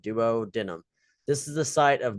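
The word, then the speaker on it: duodenum: doo denim is how you say this Duo denim is how I say it Duo denim this is the site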